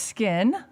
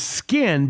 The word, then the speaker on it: Skyn: It is skin, but Yes. it's pronounced spelled Just spelled with a Y. That's all. S-K-Y-N.